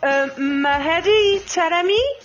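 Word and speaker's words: Mehdi Taremi: Because I want to talk about Mahedi Taremi.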